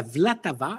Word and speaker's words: Vltava: Alors, donc, en allemand, la Moldau et en tchèque, la Vltava. Alors, V-L-A-T-A-V-A. Vltava. Vltava. Vous l'entendrez. C'est pas facile à prononcer, mais nos amis guides sur place ont l'habitude que nous disions la Moldau.